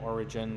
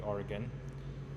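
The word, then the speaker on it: Origen: one is Oregon or origin there's different ways people pronounce it but it would most likely would be Oregon um so yeah he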